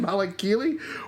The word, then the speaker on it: Malakili: Malakili walks.